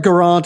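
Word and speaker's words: Geraint: Gage, it's it's um well, get if you really want to roll the R and be Welsh about it. So, but Gurant and you know your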